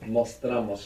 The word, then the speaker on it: mostramos: Mostramos. You're not accenting anymore the O, so it doesn't split.